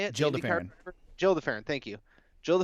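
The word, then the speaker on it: Gil de Ferran: It was Gil DeFerrin. Is that how you say it? Jill DeFerrin.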